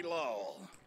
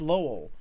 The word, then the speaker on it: Lowell: I love the way he says Lowell. It's like, Yuri Lowell. He's like, I refuse to put two syllables on that.